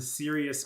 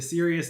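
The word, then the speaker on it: Cyrios: outlast even you as the sirius mountains that's spelled c-y-r-i-o-s uh good luck with that the serious mountains as as the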